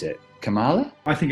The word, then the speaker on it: Kamala: How do you go about pronouncing her name? Her first name in particular? kɒmɑːlɑː.